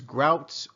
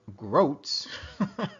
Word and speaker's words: groats: Well, whether it's grouts or groats, okay, you can pronounce it whichever way you want, all right?